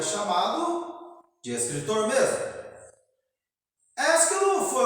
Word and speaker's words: Ésquilo: Ésquilo se escreve como se pronuncia. E no começo, e no meio, ou no final, acento no E.